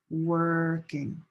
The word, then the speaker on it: working: This ur and this o r are both nursing home working.